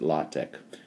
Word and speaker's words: LaTeX: Now, if I were using a Windows system, a PC for LaTeX, or sometimes people pronounce it LaTeX, if I were going